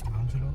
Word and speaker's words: Angelo: I don't know how do you pronounce it? San Angelo. Angelo.